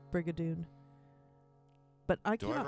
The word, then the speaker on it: Brigadoon: Liam said that it's obligatory for you to roll your R's in Brigadoon when you say Brigadoon.